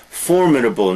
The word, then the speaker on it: formidable: jewelry false criminal imitation formidable notice the pronunciation the first poem first syllable formidable formidable maybe but formidable is better a formidable opponent is